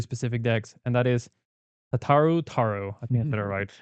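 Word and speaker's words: Tataru Taru: Um on on some really specific decks and that is Tataro Taro.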